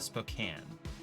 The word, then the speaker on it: Spokane: I've heard, I think locals pronounce it Spokane.